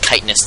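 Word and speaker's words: chitinous: kitness um plating and yes it is pronounced kitness that scientific way to say it and the Zerg carrus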